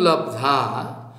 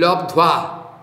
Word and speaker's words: लब्ध्वा: जिस अवस्था में जोगी पहुंचने का बाद ज्वंग लब्धा लब्धवा लब्धा नहीं उच्चारण है यंग लब्धवा च्वापरम लाभम मन्नते नाधिकम तथा यस्मिन स्थितो न दुखेन गुरु नापि विचलते।